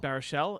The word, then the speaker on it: Baruchel: Baruchel.